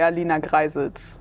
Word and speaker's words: Greissels: Quelle est la vraie prononciation de ton nom de famille? I would say Alina Greissels.